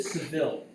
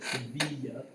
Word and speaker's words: Sevilla: And this is the city of Seville, or Sevilla, if it's pronounced properly, right?